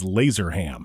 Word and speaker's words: Lazerham: There's an H in there. I know how to spell it. Silent H. But there's also a bunch of silent S's. You don't see that much. And obviously an M at the end.